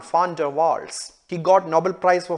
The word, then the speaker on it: van der Waals: fan d'avoir you know the right way to say the one it's not one but it is fun von der waals he got Nobel Prize